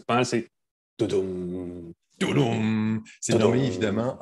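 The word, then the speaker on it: Tudum: excuse-moi, deux mots sur l'événement Todum de Netflix. Alors, Je excuse-moi, trouve ça Pascal, tu très le drôle. prononces pas mal, c'est Toudoum.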